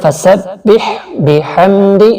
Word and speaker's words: فَسَبِّحْ بِحَمْدِ: یہاں جلدی سے پڑھیں فَسَبِّحْ بِحَمْدِ، اس بی کو کھینچنا نہیں، دھیان رکھیے گا، اور یہ دال زیر دی کو بھی نہیں کھینچیں، جلدی سے فَسَبِّحْ بِحَمْدِ.